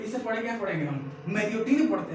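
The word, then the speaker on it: Marriott: तो प्रोनाउंसिएशन क्या है, मैरियोट नहीं है, क्या है, मैरियाट, मैरियाट, मैरियाट।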